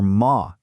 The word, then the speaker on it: ma: One last very important pronunciation point here. If you look at the pinion for ma m a, you'll see there's no tone mark above it. That's because it's pronounced with a neutral tone. It's very light, short, and unstressed. It just sort of tags on to the end of the sentence without having its own strong tone.